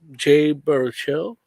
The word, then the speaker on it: Jay Baruchel: Jay Baruchel.